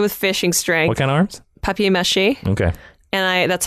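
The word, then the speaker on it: papier-mâché: arms tied together with fishing string in arms papier-mache okay yeah that's how it's pronounced okay sure and I want to push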